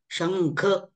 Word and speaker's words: शंख: ख आलेला आहे बरोबर आता इथे मात्र बऱ्यापैकी न च उच्चारण इथे जाणवतं शंख बरोबर ना हो सर परंतु त्याचा उच्चार आहे त्या च उच्चारण महत्त्वाचं आहे ते ग झालं पाहिजे जरी थोडं न पुढे ऐकायला येत असेल तरी शं असं असं जे हुंकार येतो तो ते मूळ उच्चारण आहे त्याचं समोरचं वर्ण जसं